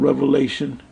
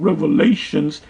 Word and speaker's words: Revelation: into the book of Revelation the only thing did this clown um dr. James wait to eat him I would say is this it's pronounced revelation not revelations that's about all he